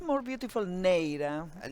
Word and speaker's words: Neira: I'm not sure if I ever pronounced that right, Maria, but It's more beautiful Neira, but it's Neira. not easy to pronounce, I Okay, thank you, understand.